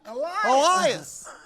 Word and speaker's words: Elias: If you're gonna say his name, you gotta say it right. Elias.